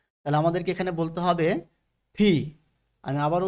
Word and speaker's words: P: আমাদেরকে এখানে বলতে হবে ফি আমি আবারো উচ্চারণ করছি ফি ফি আবার এখানে কিন্তু ফ উচ্চারণ হবে না অর্থাৎ এফ এর মত উচ্চারণ হবে না এখানে এফ এর মত